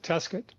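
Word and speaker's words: Tescott: Well, you know, I talked about Tescuit. It was named after te Scott and they pronounce it Tescuit.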